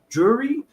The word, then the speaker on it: Drury: us at our church Dean and Carla jur jewry did I pronounce that right right yes awesome awesome so